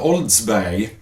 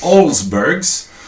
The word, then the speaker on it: Olsbergs: now how it's spell look very closely there's no D but there's an S at the end it's olsbergs so it's nothing to do with some do TV host from gothenberg telling bad jokes and The Man Behind